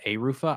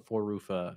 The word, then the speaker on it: Arufa: It's pronounced Arufa. Ah, Arufa. I've called him Four Rufa for literally a year.